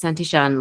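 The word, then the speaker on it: Santillán: have to be like, it's Santishan, looks like Santillan. So don't feel bad. Everybody is flabbergasted and surprised by the pronunciation. It is an Argentinian last name, as my husband is Argentinian.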